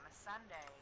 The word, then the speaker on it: Missandei: Missandre? Missandre. Miss Sunday? Miss Sunday? No. No, Missandre is the red lady. Wow, some of these names are super Sunday. close. Yeah, Missandei, I'm pretty sure is how you pronounce.